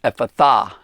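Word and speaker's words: Ephphatha: e p h p a and that's actually pronounced so it's epitha he said that which mark goes ahead and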